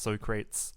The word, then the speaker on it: Socrates: fatality versus Socrates and yes his name is pronounced Socrates uh for some reason here playing under the